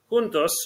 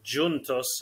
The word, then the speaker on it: Juntos: Juntos, or Juntos in Portuguese, so it's Juntos in Spanish, Juntos in Portuguese, spelt the same way, just pronounced differently, means together in English.